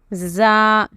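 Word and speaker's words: ز: Then you have Za, Za with a buzzing sound.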